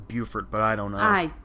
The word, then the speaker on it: Beaufort: oh yeah Beaufort Beauford I think that's meant to be meant to be pronounced Buford but I don't know